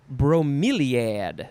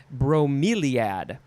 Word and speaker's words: bromeliad: Next we have bromeliad. No, that's not how you say it. Bromeliad.